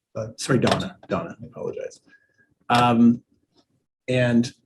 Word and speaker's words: Dana: thursday to meet with dana uh that's dana lazeau is that right that's correct i believe she pronounces it donna sorry donna donna i apologize um